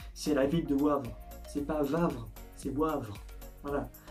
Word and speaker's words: Wavre: ville en wallonie que perdre car français s'est prononcé c'est la ville de wavre c'est pas vendre ses boivent en plus j'ai